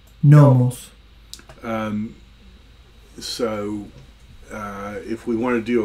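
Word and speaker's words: νόμος: And if you don't know Greek, it will actually tell you how to pronounce the word. Oida. Oida. Nomos. Nomos.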